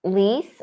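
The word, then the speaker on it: Olise: Is it Lise? O-L-I-S-E. Lise? Lise? I'd go with a silent E.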